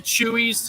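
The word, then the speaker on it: Chuy's: Chewy's. It's CH. It's spelled CHUYS.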